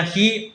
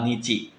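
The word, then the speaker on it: にち: Kalau kalian jawabnya hi, salah ya minasang. Yang benar adalah nichi.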